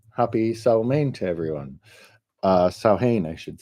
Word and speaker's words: Samhain: Um, it is written Samhain, but pronounced Samhain. And I'm probably still saying it wrong.